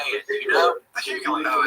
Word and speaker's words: Hughley: Hughley.